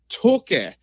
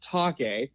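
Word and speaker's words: Taake: his singers band's name its toka not talk' idea I've been saying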